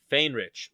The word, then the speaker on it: Faehrich: to pronounce your last name how do you pronounce it same rich Fane rich Fane rich welcome to medicine the man